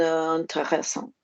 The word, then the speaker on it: intéressante: C'est une question intéressante. Well done for being one of the only people this week who said un. But if it's une question, how are we going to pronounce the word interesting? C'est une question intéressante.